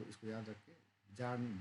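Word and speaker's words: Bjarne: C++ का generally जो है भूल जाते हैं तो इसको याद रखिए, जार्न, बी इज the silent, जार्नेस स्ट्रॉसर, right.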